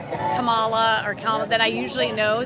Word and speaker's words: Kamala: name by the way I pronounced Kamala you can tell a republican like a comma but yeah if you just do it like Kamala it's easy Kam whenever anyone